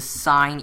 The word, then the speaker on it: sine: So sine, we call it as sin, just like how the writing is pronounced.